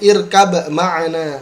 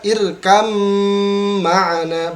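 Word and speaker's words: اركب معنا: Amma yatasaalun Kemudian, nah ini lafadz ketiga banyak yang membacanya irkab ma'ana. Mohon maaf, ini sebenarnya dibaca irkam ma'ana, ba-nya dimasukkan ke huruf mim, ya.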